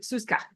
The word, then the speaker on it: Susa: and this she says this is how you say my name um s Susa um it's half of my first name and the other half of my middle name Susan Dorcas thank you Susa thank